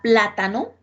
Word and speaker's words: plátano: aquí tenemos la palabra plátano mire que la palabra plátano lleva la tilde en la tercera sílaba voy a contar primera